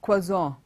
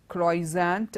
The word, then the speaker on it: croissant: is pronounced it's not pronounced to be it is spelt it's quaza quaza it's not kroy's aunt or croissant and this word would have seemed quite to